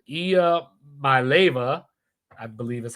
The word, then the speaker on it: Iamaleava: Nico Iamaleava, I think that's how you say it. Iamaleava, I believe is how you say it.